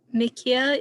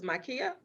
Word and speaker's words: Makia: Mikia, it looked like you went off mute. Did you have a question for Adrienne? And I hope I pronounced your name correctly. Okay. You said it was Makia? Yes.